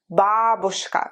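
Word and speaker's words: бабушка: or sound like in babushka please memorize the stress correctly not babushka it's important to memorize the stress right if you learn it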